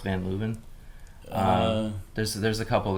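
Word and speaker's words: Van Leeuwen: you guys have them in new york it's pronounced van luven um there's there's a couple that have popped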